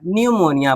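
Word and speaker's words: pneumonia: यहाँ पे एन के पहले पी है तो पी साइलेंट हो गया, न्यूमोनिया पढ़ेंगे।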